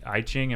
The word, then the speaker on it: I Ching: The I Ching? Am I saying I Ching? It sounds E, but it's spelled with an I.